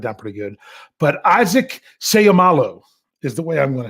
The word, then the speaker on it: Seumalo: But Isaac Seumalo is the way I'm going to say it.